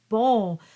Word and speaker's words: bon: lot of the sounds so we have the ball which you should remember not to pronounce the n and of course we have